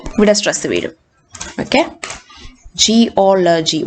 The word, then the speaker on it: geology: So you have to split the word into syllables and find out the third syllable from the end, and that will be the stress syllable.